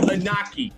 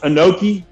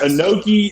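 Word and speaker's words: Inoki: 19 Antonio anaki are you familiar with Antonio anaki coach bald yeah it's pronounced an noi and yes an noi an noi over in Japan is about as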